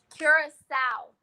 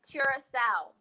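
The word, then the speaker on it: Curaçao: And just that quick, I forgot how to pronounce it. Kira is Curacao. It's blue Curacao.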